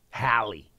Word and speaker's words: Halle: Halle. Thank you. At least say her name right.